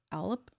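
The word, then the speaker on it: Aleph: thinking okay elf L alop I'm not pronouncing the pH I'm pronouncing it like an F but it's but it's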